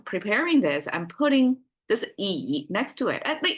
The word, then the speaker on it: 乙: This E, pronounced as E concept in Chinese, is quite abstract, actually.